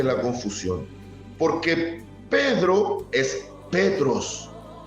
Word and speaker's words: Petros: ¿Qué significa desde el griego Petros? O se pronuncia más bien dicho en el griego. Tú eres Petros, piedra.